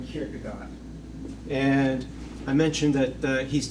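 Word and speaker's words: Kierkegaard: In Danish, it's pronounced Saurin Kirkagard.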